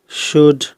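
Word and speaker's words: should: Second हम इसमें लेते हैं एल के बाद डी होने पर कुछ शब्दों में एल जो है वो साइलेंट रहता है। जैसे वुड, कुड, शुड।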